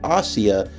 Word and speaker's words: Asia: pronounced as ashiya whereas in the anime it's pronounced as ossia and it's spelled a s i a now that truly blew